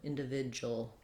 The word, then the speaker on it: individual: In di vi du al Um .